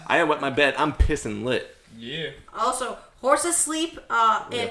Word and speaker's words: pissenlit: Pisson If to pronounce it phonetically, it's pissin' lit. Oh, yeah. Pissenlit. Pronouncing French is Pissenlit.